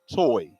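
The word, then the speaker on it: Tuohy: on oh pH no it's t-u-o-h-y toy toy toy but um according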